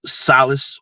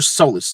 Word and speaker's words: solace: people in demand take solace or soless depending on how you say it and things that